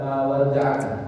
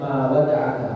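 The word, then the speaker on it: مَا وَدَعَكَ: Urwah bin Zubair dan putranya yaitu yang bernama Hisham bin Urwah wa ibnu Abi Abdah bi takhfifid dal, ma wada'aka rabbuka, bukan ma wada'aka. Bacanya ma wada'aka.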